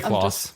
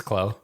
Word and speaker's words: Clos: pronounce it Khloe again it's French so you could say claws but it's Chloe everybody says a lot of